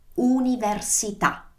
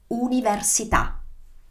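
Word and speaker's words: università: it's so tricky because the pronunciation is not you so it's not like university but it is universita repeat after me universita okay so let's recap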